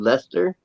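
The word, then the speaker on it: Leicester: that city in England that's called Lester yes yes you know how you spell it ler l e i c e s t r yeah why do you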